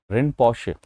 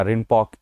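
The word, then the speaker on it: Rinpoche: गुरु पद्म संभव जी, जिनको हम गुरु रिनपोशे या रिनपॉक ऐसे दो जगह से प्रोनाउंसिएट किया जाता है, इनके नाम से जानते हैं।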